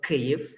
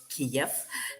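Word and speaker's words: Kyiv: i want you to please try pronouncing the name of our capital cave not kiev because kiev is a russian pronunciation and we don't like it so i am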